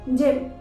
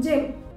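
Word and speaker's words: gym: जैसे जिम, JYM जिम। यहाँ पर y का क्या साउंड आ रहा है, ई, जिम।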